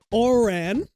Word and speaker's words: Oran: Oran as in orangutang.